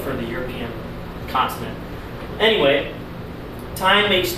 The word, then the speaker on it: Thein: Obviously, some of you guys might know Thein, spelled with a TH at the front. Americans will probably call it Thein, even though it's Thein.